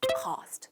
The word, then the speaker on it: cost: cost 발음은 cost가 아니라 커에 가까워요.